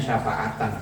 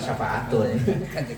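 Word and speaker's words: شفاعةً: Kalau mengikuti ilmu nahunya syafaatan bacanya. Syafaatan itu sebagai syafaat. Di ummati untuk umatku. Syafaatan ya makanya iya, bukan syafaatun.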